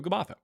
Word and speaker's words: Gabbatha: I don't know why it pronounc so much pronunciation on the uh but in Hebrew Gabbatha.